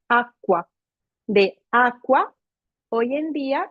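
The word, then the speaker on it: acqua: Entonces se añadió la letra C para marcar un sonido fuerte y claro, de tal modo que se pronuncia aqua.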